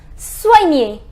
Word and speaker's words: soigner: It is soigner. It is soigner. I told you the pronunciation of OI is OA. So SOI becomes SOA and then near.